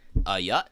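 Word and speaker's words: ayuh: They yut, and it's spelled A''Y''UHT. It's yut.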